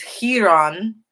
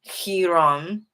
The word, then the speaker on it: Hiram: Is Hiram. That's what it means in that's the way it's pronounced in Hebrew. Hiram, and it means like whiteness, pure, whiteness, like white linen.